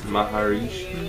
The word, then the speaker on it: Maharishi: Stan Smith's with Maharishi.